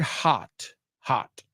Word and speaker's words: hot: So the first word, hot, rhymes with cot.